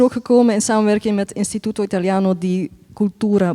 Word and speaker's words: Istituto Italiano di Cultura: Anyways, dit gesprek is er ook gekomen in samenwerking met Istituto Italiano di Cultura Bruxelles. Is that the way to pronounce it? Perfect.